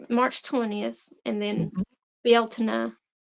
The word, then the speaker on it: Bealtaine: 20th, and then mhm, Bealtaine is because this is based on, like, Gaelic pronunciations, it looks mhm, like Beltane, but I mhm, think there's different people says different ways, but yeah, mhm. Bealtaine is, I think, how you're supposed to say it, but, I'll never say